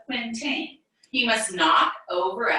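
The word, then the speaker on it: quintain: tilting at the quintane so this word tells us how to pronounce it quintin so this is a quintine he must knock over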